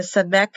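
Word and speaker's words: samekh: The samek has a rounded one. Samek, or soft C. Not an O, it's an S, or a soft C.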